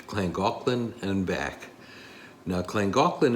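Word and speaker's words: Llangollen: gaan and back now clang gaan is spelled a little different than it sounds because it's in Wales and from what we've been told the LL sounds like CL in Welch so it's clang aan now I'll not bore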